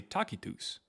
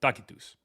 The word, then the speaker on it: Tacitus: How they said it back then is actually Takitus. Okay. Yeah, it sounds weird, but that's literally how they said it in Latin. Takitus.